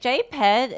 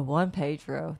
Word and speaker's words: Juan Pedro: Is it JPED? Is that okay? Is that the way to say your name? I just want to make sure that I'm saying it right. Oh my goodness, what do you have physio for? Oh, Juan Pedro. There we go.